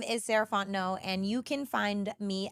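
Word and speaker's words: Sarah Fontenot: again my name is sarant no and you can find me at Miz saraon no so Ms s a r a h fo o n t n o t the t is silent um that's me on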